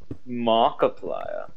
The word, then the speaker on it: Markiplier: said his name is Markiplier and you should definitely check out his channel when you get the time he does a lot of horror games yeah what he said his name wrong it's Markiplier yeah yes it's that